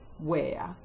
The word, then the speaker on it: where: The first set of words that have a silent H are the question hand words when, which, why, where, and what.